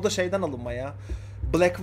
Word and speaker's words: 6LACK: o da şeyden alınmaya Black var ya Six l şeklinde yazan 6lack şekli yazma oblake diye okunuyor Bu da onun alacaksın